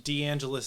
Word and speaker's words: DeAngelis: Deangelis is the right way to say it. Deangelis. Oh, okay. Okay. Like Los Angeles. Like Los A Angeles. little bit. Yeah. But cooler. Okay. More Eastern than Los Angeles.